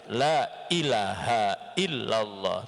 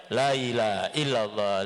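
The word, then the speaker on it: لا إله إلا الله: harus betul-betul kita tampakkan Sekalipun kita membacanya secara cepat Lailahaillallah tidak boleh kita membacanya lailahailallah lailahailallah lailahailallah Kenapa karena berarti disitu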